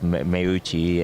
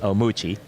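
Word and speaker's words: Meucci: a cue to us you know everybody pronounces differently right for the most part in in the west coast is much is yeah and then you go to the south and they there's meuchi and omuchi i've heard it about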